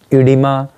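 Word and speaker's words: oedema: हम लोगों का एक वर्ड लिखा है ये इडिमा, तो इस तरीके से हम लोग ओ ई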